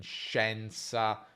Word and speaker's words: scienza: A volte abbiamo anche SCIE, come in scienza o coscienza, ma quella I è muta, non si pronuncia.